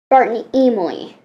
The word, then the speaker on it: Emile: It's Spartan, whatever this says, Spartan Emile. Weird name. It rhymes with emu a little.